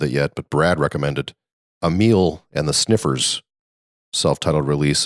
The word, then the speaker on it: Amyl: So Emile, and that's spelled AMYL, and the Sniffers.